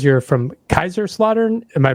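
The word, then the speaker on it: Kaiserslautern: If I look at your Band Camp page, it says you're from Kaiser Slaughter. Am I pronouncing that right?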